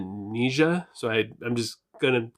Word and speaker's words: Nija: some of the songs they actually say the word in one of their songs and they pronounce it nisha so i i'm just